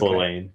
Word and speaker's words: Lelaine: I can never pronounce her name. Yeah, I think it's Lelaine. Yeah.